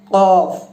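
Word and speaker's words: قاف: তো দর্শক দেখুন, এটা এখানে যেটা আছে সেটা হচ্ছে অফ, জিহ্বার শেষ অংশ থেকে উচ্চারিত হবে। কফ উচ্চারণ হবে ক ই উ, এরকম।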